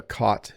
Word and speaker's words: cot: Maybe when you go camping, you set up a cot in your tent, and it's pronounced the same way as the word caught.